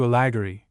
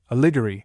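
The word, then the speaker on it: Alighieri: Footnote five the name has been varied into alageri aligeri aligeri aligory aligeri with the accent generally on the third but sometimes on the second syllable.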